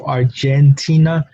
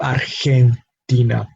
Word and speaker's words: Argentina: In Argentina, same thing, exactly the same pronunciation as in English, Argentina, but a very different pronunciation, especially in that syllable G instead of J, no? Instead of Argentina, we have Argentina. Again, that G now producing the English H sound.